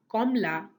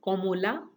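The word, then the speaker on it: কমলা: In the exact same way, in Bengali, Komla stands for both the fruit and the color. There is an alternative pronunciation, Komola, but both Komla and Komola are acceptable pronunciation for the word orange.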